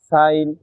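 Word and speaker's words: sign: শব্দের শেষে আই জিএন থাকলে আইন উচ্চারিত হয়। এক্ষেত্রে জি অনুচ্চারিত থাকে। যেমন foreign, rain, রিজাইন, সাইন, ডিজাইন ইত্যাদি। এই ছিল আজকের পাঁচটি রুলস।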